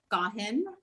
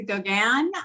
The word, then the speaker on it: Gaughan: just came out the same how do you pronounce it so my name is got him um but like i said if you want to pronounce a gauguin that's fine it just goes with wandering parisian